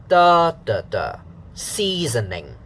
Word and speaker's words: seasoning: s and then uh the pitch pattern so syllable one stressed da and then syllable two here and then syllable three seasoning so here examples will